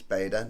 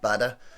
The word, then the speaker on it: Bader: I think it's Bader, not Badder. Looks like it's spelled Bader to me.